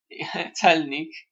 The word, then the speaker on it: celnik: North node of moon conjunct asteroid Celnik, and Celnik, Celnik, this is how we pronounce Celnik in Polish means custom official.